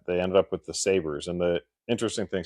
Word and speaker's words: Sabres: ended up with the Sabers. And the interesting thing, so it's spelled S A B R E S. It's kind of like a more of a French Canadian spelling. a saber like a sword you s a b-